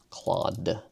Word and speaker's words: Claude: Is it claude or cloud? It's claude.